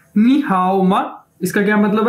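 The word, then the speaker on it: 你好吗: ये देखें, ये आ गया हमारे पास नी हाओ मा, नी हाओ मा, नी हाओ मा, ये इसकी प्रोनाउंसिएशन है, यानी इसको कैसे बोल रहे हैं,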